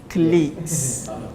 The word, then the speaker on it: colleagues: The spelling is very long, but this pronunciation is just colleagues.